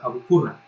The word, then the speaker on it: Abu Qurra: Cuando yo escribo la Q es que es como una Q, eso es una letra árabe, pero pues en español se pronunciaría Abu Qurra.